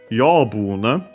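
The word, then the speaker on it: 養分: Yobun is a Chinese compound, which you can easily tell also based on the pronunciation. Accent on the first mora, this one, so the second most common accent for those.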